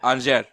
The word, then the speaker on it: Angers: I always say angers, but I'm glad that you That's what